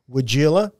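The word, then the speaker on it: Weigela: the greenhouse and I took a look at wagila I pronounced that right wagila right yes yes Vino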